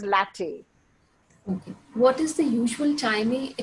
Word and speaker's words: LaTeX: talked about latte latex it's pronounced as latte what is the usual